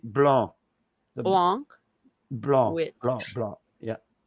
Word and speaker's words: blanc: Blanc. Blanc. Yeah. You don't pronounce the C at the back.